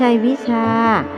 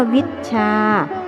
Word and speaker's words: วิชชา: บอก จด ไว้ ก่อน ไม่ ใช่ วิชา ต้อง ออก เสียง ว่า วิชชา คือ มี ช้าง 2 ตัว วิชา เป็น ศัพท์ ทาง